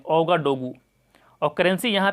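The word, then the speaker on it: Ouagadougou: उसके बाद है अगला कंट्री बुर्किना फासो, जिसकी राजधानी है ओगाडोगू, इसको प्रोनाउंस करते हैं ओगाडोगू और करेंसी यहाँ पे वेस्ट अफ्रीकन फ्रैंक।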